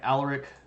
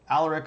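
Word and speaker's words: Alaric: it's this guy named Aller and I know that people have a problem with pronouncing it all aleric but that's the way that it would be pronounced if that was a Roman word um and that's the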